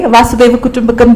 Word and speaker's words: Vasudhaiva Kutumbakam: So this was yoga, the India way, Vasudhaiva Kutumbakam, the way you're pronouncing it absolutely aptly right.